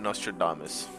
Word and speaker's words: Nostradamus: But next up, we're going to be talking about Nostradamus.